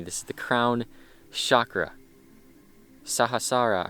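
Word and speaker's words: Sahasrara: is the crown chakra sahasara I'm pretty sure is how you say it sahasara chakra I think but this is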